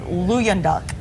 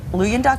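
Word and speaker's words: Luyendyk: But of the 25 original Bachelors, we've already told you that only 2 remain, Ari, and I think Ari's last name is pronounced like Luyenduk. Luyenduk, I think that's his last name.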